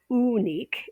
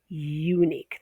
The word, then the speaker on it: unique: It's not ooh-nique, it's unique. There's no y there, but it's pronounced y-u.